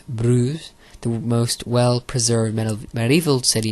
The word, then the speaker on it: Bruges: Bruges, pronounced Bruges, the most well-preserved medieval city in the whole of Belgium, is a welcoming destination for travellers from all over.